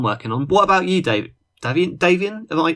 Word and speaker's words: Davian: What about you, Davian? Am I pronouncing that right?